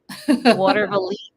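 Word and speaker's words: Watervliet: How do you Water pronounce it? Water Valete. Water Valise.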